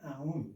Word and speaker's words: Aum: By the way, Aum, 2 syllables, even though these right here are not meant to be pronounced out loud.